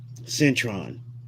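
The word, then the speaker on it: Syntron: No, Cron is spelled S Y N T R O N. Centron.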